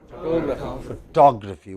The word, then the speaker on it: photography: change say for example when you add y to it what is it now what is it now photography what is it now